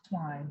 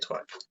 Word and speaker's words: Twine: Twine, like Twine, the okay, string. Twine.